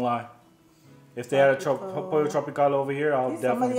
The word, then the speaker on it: Pollo Tropical: Pollo tropical. That's how you say it. Pollo tropical.